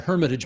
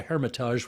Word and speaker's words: Hermitage: I just shown what a Philistine I am by calling it the Hermitage Museum instead of the Hermitage, which of course you pronounce properly.